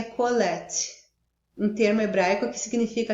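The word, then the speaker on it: קהלת: autor identifica-se apenas com, eu acredito que esse termo hebraico se pronuncia colete, um termo hebraico que significa aquele que reúne ou ajunta.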